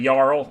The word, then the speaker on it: Jarl: always there is a oh sorry yarl there is a pronunciation button yeah all right so